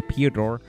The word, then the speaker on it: Piotr: Piotr, let me pronounce that right, because I'm saying Piotr and the T is after the O. Piotr.